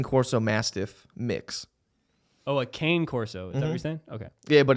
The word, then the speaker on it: Cane Corso: are oh let me look at a picture king corso a king course look up uh king corso mastiff mix oh a cane corso is everything okay yeah but it's spelled it's